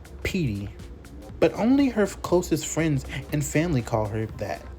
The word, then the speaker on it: Pete: So this is Petunia, also known as Petey, written P-E-T-E, but pronounced Petey.